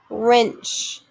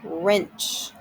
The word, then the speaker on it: wrench: is new silent g wrench w r silent w making the er sound wrench comb mb making the